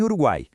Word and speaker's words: Uruguai: Veja em Uruguai, o som fraco u, o som forte a e o som fraco I, todos juntos na sílaba guai.